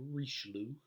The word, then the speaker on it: Richelieu: richie a few more of an english pronunciation you'll say cardinal richelieu he was the prime